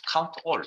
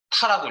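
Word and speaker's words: COUNTA: 자, 이건 count A, count all 뭐 이렇게 이건 수업을 진행하시는 분의 성향에 따라서 카운타라고 읽는 분도 있고요. 저는 count A라고 읽겠습니다.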